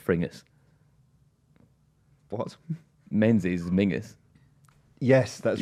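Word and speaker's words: Menzies: from like men's Campbell it pronounced it'd be pronounced frus what men is Mingus yes that's right yeah yeah yeah frus Campbell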